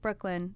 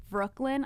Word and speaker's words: Brooklinn: this they're like What's your name I'm like Brooklyn they're like can you spell it I'm like b r o o k